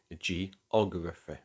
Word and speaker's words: geography: How about a geography? First G is followed by an E. It tells us it's a soft G. Second G is GR. The R is a consonant, so it's a hard G. Ography. So result, geography.